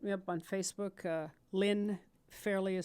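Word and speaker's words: Fairly: Lynn Fairley is spelled L-Y-N. Fairley, just as it sounds, F-A-I-R-L-Y.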